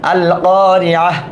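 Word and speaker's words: القارعة: এখানে থেমে গেলাম, এখানে হার উচ্চারণ হলো। এই দুটাতে থামলাম না, এখানে কিন্তু তার উচ্চারণ রয়ে গেল। আল কারিআহ হার উচ্চারণ, মাল কারিআহ, ওয়ামা আদরাকা মাল কারিআহ।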